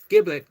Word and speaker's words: giblet: By the way, there's two pronunciations for this giblet. Gibible is correct and so is giblet.